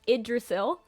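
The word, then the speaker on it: Yggdrasil: is a weird spelling but that word is pronounced idrisil so Asgard was the home of the Gods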